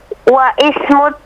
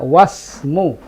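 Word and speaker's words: واسم: Wa ismut tabibi Sa'idun. Bagaimana bacanya? Wa ismu. Bukan begitu, bacanya wasmu. Wasmut tabib. Wasmut tabibi Sa'idun. Bagus, bagus. Jadi untuk kalimat ismu, alifnya itu ketika di tengah tidak dibaca.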